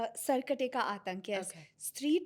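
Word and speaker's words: Sarkate Ka Aatank: final bit is Sarakte Ka Atnak. Sarkate ka Atank, yes.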